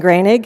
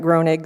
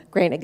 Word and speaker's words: Grainig: It's Grainig. It looks like Groenig, so Grainig is a lot better, so thank you.